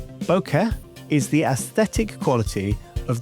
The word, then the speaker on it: bokeh: It's pronounced bo as in bone and ke as in Kenneth, and you're meant to give equal stress to each syllable.